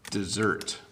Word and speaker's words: dessert: So first of all, the desert has a lot of sand, 1D. Okay, so the desert has a lot of sand. I ate my dessert.